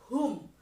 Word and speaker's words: whom: Membacanya adalah whom. Meskipun ada huruf W di sini tetapi W-nya hilang. Whom.